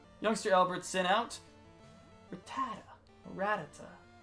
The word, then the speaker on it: Rattata: Albert sent out retired Rattata or were toda I don't think anyone pronounces it the last way we're gonna say rat Rattata Brett Rattata sorry I